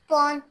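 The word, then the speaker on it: phone: उसमें कौन सा डायग्राफ यूज़ हुआ है? उसमें फ़ का। हां। फोन में डायग्राफ कौन सा यूज़ हुआ है? मैं स्पेलेल पढ़ती हूं। आप मुझे बताएं। पी एच ओ एन ई। पी एच पी एच एक डायग्राफ है।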